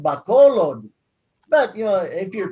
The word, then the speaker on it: Bacolod: experts they read it they read it like english and so they'll say back a lot back a lot yeah go up the back like back a lot and then it's pronounced bacolod but you know if